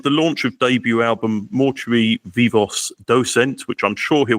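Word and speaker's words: Mortui Vivos Docent: I mean, I don't speak Latin myself either, but I guess it would be something like mortui, vivos, docent.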